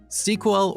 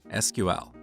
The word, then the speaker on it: SQL: talk to different people you'll hear two different pronunciations of SQL sequel or SQL what is the correct